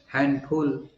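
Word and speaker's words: handful: हैं ग्रैंडफादर होता है हैंडफुल हैंडफुल हाथ भर तो उसम भी डी साइलेंट होता है हैंडमेड हैंकर चफ हैंडसम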